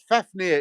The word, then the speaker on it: Fafnir: Jr that's your new name brilliant uh fafnir is correct correctly pronounced thank you libel I appreciate it I'm